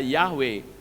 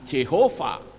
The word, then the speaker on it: Yahweh: Dahsyat sudah setara Jati Harus dipanggil dengan tepat Hai bukan Jehova bukan jahoba Hai bukan pula yang lain tetapi harus tepat ia Hai dan Kebanyakan orang-orang